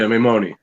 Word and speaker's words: Maimone: Is it Maimone? Is that how you say it? Yeah, Maimone. Maimone.